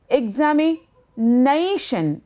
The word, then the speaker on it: examination: Similarly, examination, 5 syllable. Examination, examination, and it is nai that will carry the stress.